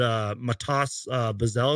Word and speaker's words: Matas Buzelis: Like, just talk to us about the Chicago Bulls, because I believe you guys drafted Matas Buzelis.